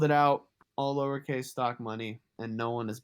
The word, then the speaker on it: stocmoney: because they think Stocks they pronounce it Stocks, and that fucking drove me insane because he's a legend, but my tag isn't fucking Stocks, it's Stock Money.